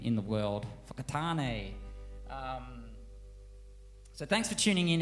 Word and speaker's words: Whakatane: I know that, is it WH that is pronounced f? Because you guys have got Whakatane, which is probably my favourite town name in the world. Whakatane.